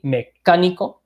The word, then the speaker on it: mecánico: We look at mechanic, we emphasize that A, mecánico, right? Mecánico, we have to emphasize that.